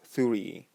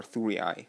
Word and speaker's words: Thurii: for the newly established colony of Thurii, or Thurii, however you want to pronounce that.